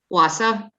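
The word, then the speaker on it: Wausau: w a u wisconsin how do you say that wasa oh okay all righty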